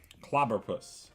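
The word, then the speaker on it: Clobbopus: We got a Clobopus, Into a Houndstone. Clobberpuss is how you say that.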